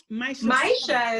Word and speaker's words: Maisha: Maisha is actually how you pronounce it, actually, in Swahili. For the first time. But American is Maisha.